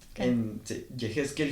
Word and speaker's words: Yejezkel: que es medio complicado es Ah jekel 77 se escribe y e J E Z K e l 77 jequel me pueden encontrar superfácil como jequel